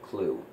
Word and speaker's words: CLU: I don't know, but the blue is Ugay, it's Tron, the yellow one is called Clue. For now. It's spelled C-L-U.